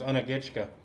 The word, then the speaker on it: Unagitchka: That creek is Unagitchka. Hmm. Is love in Creek, Unagitchka. So the K's, a K you say like a G.